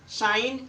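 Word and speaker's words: sign: आए तो जी साइलेंट जब भी जी के बाद एन आए किसी शब्द में तो आपका जी साइलेंट होगा डिजाइनर साइन असाइनमेंट इस शब्द में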